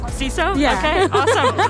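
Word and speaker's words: CISO: you pronounce that abbreviation I would say seesaw ceso yeah okay awesome all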